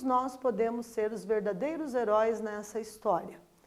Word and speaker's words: heróis: heróis e erótico então heróis manteve ali o acento agudo na letra o né é uma palavra oxítona a sílaba tônica sílaba com maior intensidade é na última sílaba então heróis né se